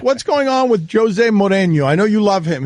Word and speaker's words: Mourinho: Is that Mourinho? No, there you're putting an E there. It's Mourinho.